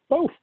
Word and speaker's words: both: Both. Both. Or both with an F, as we say in Texas. B-O-F is how you say both. That's the technical way to say it in Texas.